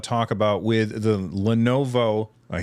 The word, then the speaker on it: Lenovo: Anything else that you guys want to talk about with the Lenovo, I said it right this time, Legion Go, before we move on?